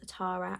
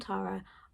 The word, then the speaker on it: Tara: like, it's Tara, but people pronounce it wrong, because I think Americans say Tara, but in the UK we say Tara. I'm not sure. I'm just going to say Tara because to me that's how you say it, but I think it might be Tara.